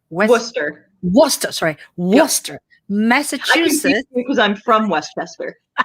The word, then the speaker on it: Worcester: um west west how do you say that westchester right west worcester worcester sorry worcester massachusetts because i'm from westminster no we're